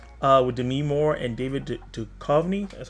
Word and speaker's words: Duchovny: Is The Joneses with Demi Moore and David Duchovny. That's how you say his name. I always say his name wrong.